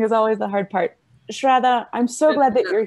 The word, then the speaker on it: Shraddha: all yours welcome hi sierra so as you pronounce it well my name is shraddha i am professionally a forensic scientist i have